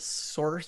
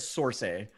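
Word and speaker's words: Sorxe: a band called source it's not spelled like that though how is it spelled oh s-o-r-x-e okay all right source source i would have said source-a okay i'm looking at their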